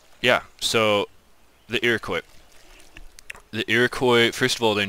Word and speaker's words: Iroquois: their actual name so the actual name of this civilization is the Iroquois this is a typo